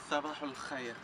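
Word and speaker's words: صباح الخير: En árabe buenos días es sabahul khair.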